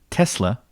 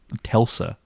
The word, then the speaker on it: Tesla: of days, like these Tesla looking towers. And anyone who's looked into Nicholas Tesla, why am I saying his name wrong? Telsa, like think of Tulsa. Tesla. Tesla, yeah. Tesla, Nicholas Tesla.